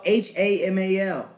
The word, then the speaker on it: Hamal: Yes, it's spelled H-A-M-A-L. Hamal.